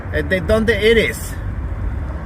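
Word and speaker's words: de dónde eres: De donde eres?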